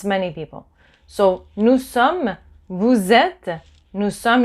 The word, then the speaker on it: sommes: So, nous sommes, vous êtes. Nous sommes, you don't pronounce the S at the end either.